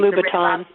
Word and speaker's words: Louboutin: It's Louboutin.